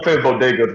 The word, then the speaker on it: bodegas: a bad speech yeah i'm like she didn't pronounce bodegas right at all bodegas which is the corner stores in new york